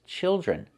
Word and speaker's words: children: We hear the I change to the short I sound like this is children.